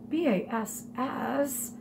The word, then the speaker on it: bass: called a bass drum, and it's spelled B-A-S-S. And I'm sure you're looking at it and you might go, B-A-S-S, bass? No, a bass is a type of fish. This in music, bass, means something low.